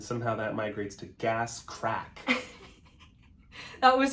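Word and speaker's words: craic: No, because when we hear crack, we think it's spelled C-R-A-C-K.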